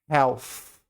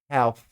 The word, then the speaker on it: health: A gente faz esse som em português, mas em inglês vai ser parecido com o F. Health. Health. Ele é bem parecido com thank you ou think, já é mais fácil de perceber. Mas aqui é health. É no final, perceba que tem um fluxo de ar.